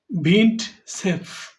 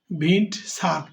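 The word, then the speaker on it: Vint Cerf: ইন্টারনেটের জনক ইন্টারনেটের জনক কে সেটা আমাদের জেনে নেওয়াটা জরুরি উত্তর সি ভিন্ট সেফ আর উচ্চারণটি হবে না ভিন্ট সারফ বা সেভ উত্তর সি হচ্ছে সঠিক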